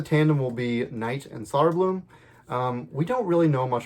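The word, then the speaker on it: Söderblom: I think that's it's actually I think it's pronounced Soderblom, so I'm gonna pronounce it Soderblom.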